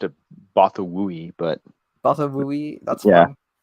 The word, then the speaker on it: Bothawui: Bothwai? That's how I usually have said it. That's how I read it. But apparently I'm wrong. I've always pronounced it Bothawui, but Bothawui?